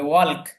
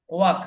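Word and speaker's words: walk: এলটা যুক্ত করতে হবে, ওয়াল্ক। কিন্তু উচ্চারণটা ওয়াল্ক হবে না, উচ্চারণটা হবে ওয়াক। ওয়াক অর্থাৎ এল এর উচ্চারণটা বাদ যাবে এখানে, ওয়াক।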